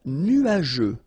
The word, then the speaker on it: nuageux: Un ciel couvert, un ciel nuageux. This can be quite tricky, but take the time to nuageux. Remember, final X here not pronounced.